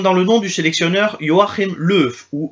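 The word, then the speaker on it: Joachim Löw: en espagnol comme dans le nom du sélectionneur Joachim leuf ou yachim leuf pour le re j'ai mis le symbole phonétique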